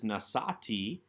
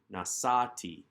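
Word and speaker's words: נשאתי: of this verse is nassati again with the accent on that second to last syllable because the tav plus the herik yod marking the one cs subject is not strong enough ending in a vowel to draw the accent to itself the accent remains in the prior syllable nassati we then have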